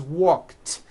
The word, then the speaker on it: walked: The word walk, which has an unvoiced K sound at the end, walk, becomes walked. Yesterday I walked.